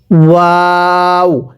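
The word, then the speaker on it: واو: এরপরে ওয়াও। এই যে ওয়াওগুলো উচ্চারণের সময় ঠোঁটগুলো গোল হবে।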